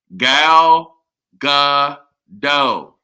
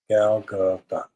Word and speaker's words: Gal Gadot: It is pronounced Gal Gadot. No, son. No. Gal Gadot.